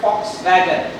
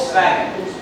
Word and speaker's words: Volkswagen: There is another brand called Fox Wagon. Fox. Volkswagen. How do you spell it?